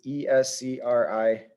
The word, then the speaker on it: escribe: Now, this has 3 syllables, escribe. The second to last syllable is, the vowel is the I, the second to last syllable. That's the stressed vowel. That's the stressed syllable, escribe, escribe. It goes up in that second syllable and the second to last syllable. And there's no need for an accent mark because that's the rule.